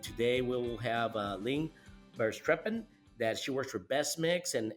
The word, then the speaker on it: Verstrepen: So I'm Lynn Verstrepen, was a good pronunciation of my last name.